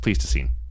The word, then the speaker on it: Pleistocene: look this up saying I think it just pleased to see him yeah I said it